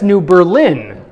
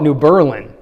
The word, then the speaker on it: New Berlin: If you were to read it, you might say, that's New Berlin, right? Because we say Berlin, Germany. But if you're from that area, you call it New Berlin.